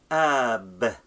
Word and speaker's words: ܐܒ: So the first word, okay, it's ab. Ab. You see, alep has a vowel, so it's not silent. It's gonna be ab.